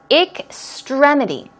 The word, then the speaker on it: extremity: some more words extremity notice its extremity stress goes right there it's an AI k